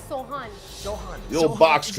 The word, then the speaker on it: Sohan: It's Sohan.